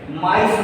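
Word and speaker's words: maïs: When I'm saying ma and then e, mice, mice, mice.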